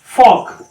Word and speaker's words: folk: फिर है के पहले आए, जैसे FOLK, अबे क्या है, एल साइलेंट है, फॉल्क नहीं है, फॉक है, फॉक डांसिंग होता नहीं, फॉल्क डांसिंग नहीं, फॉक डांस।